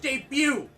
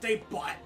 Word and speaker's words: debut: a pun gavin yeah it's pronounced debut not day but i legit thought that